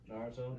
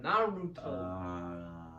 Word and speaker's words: Naruto: Naruto. Naruto.